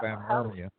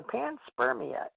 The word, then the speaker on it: panspermia: That's called panspermia. Panspermia? Yeah. Or panspermia, Pam. I'll have to look that one up. Yeah, I pronounce it wrong.